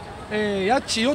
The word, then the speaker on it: 八千代: はい、千葉県の八千代市より NHK をでっかす、八千代と読みますが、で